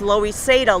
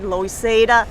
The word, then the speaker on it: Loisaida: for Lower East Side like a Spanglish like a you know of uh Spanish for Lower East Side when you say it real fast loisada low east side loisada yeah Spanish pronunciation so Avenues a b